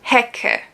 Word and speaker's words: Hecke: I mean, obviously, if it's in the beginning of a word, then of course C and the K is pronounced like K. For example, Hecke. It's like a strong K, basically.